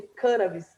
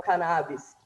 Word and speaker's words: cannabis: vez que eu escutei a pronúncia sobre cân Abis e não cannabis e foi ele de apresentou falando que essa seria a pronúncia correta não foi a pronúncia